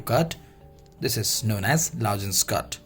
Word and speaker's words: lozenge: Next we have here is lozenge, means the pronunciation of this is lozenge, right?